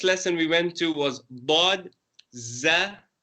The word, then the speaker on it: ض: So that again you pronounce with a round mouth, but this time our tongue is behind our top teeth and on the side. It could either be on your left side or your right side.